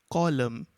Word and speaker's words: column: in the same way column n is silent and the next one